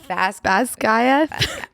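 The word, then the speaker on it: Basgiath: And Fourth Wing is about a war college called Emily, tell us how you pronounce it. Basquiat? Basquiat.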